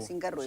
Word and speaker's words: Cinquerrui: Lo acentúo en la U. En la U. Cinquerruy, sí, claro, sí, lo castellanizamos.